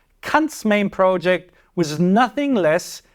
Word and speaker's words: Kant: Please allow me to pronounce the name here in its pure German form. Kant's main project was nothing less than the purification of reason.